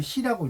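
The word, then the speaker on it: 寺: 교회 관청 이게 이제 관청을 나타낼 때는 사라고 안 읽고요 시라고 읽어요음 관청 시 이렇게 써 놓으시면 좋겠어요 이게 절일 때는 사라고 읽는데 관청이 읽을 때는 시라고 있습니다 발음이 자 그래서 그런 그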